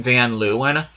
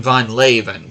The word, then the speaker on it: van Leeuwen: and 1/2 years ago I pronounced this guy's name as Justin Vanluen, but I do want to say his name correctly, the Dutch pronunciation of it, and that is Justin von Leven. So, I'm going to do my best to save Von Leven instead of Vanlu.